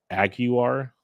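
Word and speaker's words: Aguiar: join the rotation uh you don't pronounce the L or there is no l there's there is no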